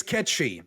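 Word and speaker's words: Cait Sith: Do you guys all know how to pronounce Kate Sith? Ketchy. It's Ketchy.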